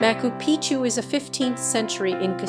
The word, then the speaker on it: Machu Picchu: For most speakers of English or Spanish, the first C in Picchu is silent. In English, the name is pronounced Machupicchu or Machupicchu in Spanish as or, and in Quechua as.